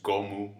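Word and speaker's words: ゴム: Now usually Luffy's number is 56 because 5 is Go and 6 is Mu. Like that's how you can pronounce it in Japanese. So it's Gomu, Gomu, Gomu no.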